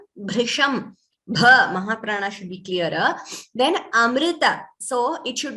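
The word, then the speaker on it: अमृत: so it should not be heard as amruta it is not o there is no ukara there it is amrita okay that is one word where we all need to be careful with our pronunciation yes it is amrita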